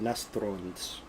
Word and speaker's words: Nastrond: It's called Nastrond. That's how it's pronounced. Yeah, I was wondering how it was pronounced. Yeah, I believe. I'm gonna look it up just to make sure, but I believe that's how it's pronounced. And I may have put too much of an accent on the R, but I can read IPA, so.